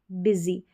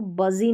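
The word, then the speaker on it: busy: तो सनी रेनी lucky funny और बिजी बिजी। अब इसको बजी नहीं पढ़ना है। बिजी पढ़ना है।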